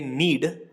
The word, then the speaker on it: knead: तो गूंथने या उसनने को कहेंगे नीड, केस में साइलेंट है, और चलाना या टारना, सब्जी को टारना, उसको हम कहते हैं स्टिर, STIR।